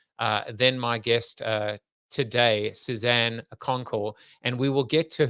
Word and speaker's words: Kounkel: Suzanne Kounkel. Do not use the U. The U is just there for you, but it is not there in terms of pronunciation.